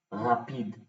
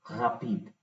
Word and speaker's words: rapide: ख ख ख très très bonjour, très, regardez, regardez, ख hard, rapide, rapide, rapide, it's not rapide, ठीक है? So rapid बोलना is kind of फिर again वही इंग्लिश वाला accent, rapid.